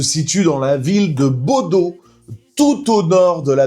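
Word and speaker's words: Bodø: Alors déjà faut savoir que le club se situe dans la ville de Baudau tout au nord de la Norvège.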